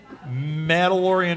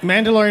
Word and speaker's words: Mandalorian: sure we talk about madalorian mashups I always say it wrong Mandalorian mashups Mandalorian mashups or Mand